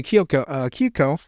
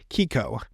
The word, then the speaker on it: Keiko: So he goes to Kyoko. It's hard to say her name, Kyoko. So it's Keiko or Kei, but it's Kiko.